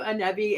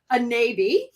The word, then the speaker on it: Anebi: We just found out that I've been saying your name wrong the whole time. I keep calling you Anebi. It's Anebi. Yes.